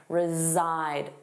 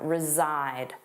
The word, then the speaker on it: reside: Notice that pronunciation reside. Zzide, the voiced sound, reside.